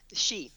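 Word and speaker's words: Sidhe: We have Dance of the Sita. She, yeah, it's a Celtic word. Ergo, it's not spelled like it sounds, but it's the dance of the she, and they're.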